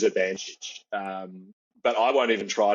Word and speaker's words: Urbanchich: Now, his name is hard to pronounce. It is Urbanchich.